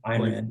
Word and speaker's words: Ayn Rand: It was brought up in a college Republicans meeting that Ayn Rand, I think that's how you pronounce it. Yep, Ayn Rand, yep.